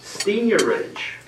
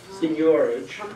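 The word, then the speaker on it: seigniorage: the American Heritage dictionary seniorage seniorage you can pronounce it either way and it's under there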